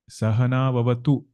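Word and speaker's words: Saha nāvavatu: Sahana Vavatu. Tu is Rasva there. If you prolong it for long, tu will become Dirgha.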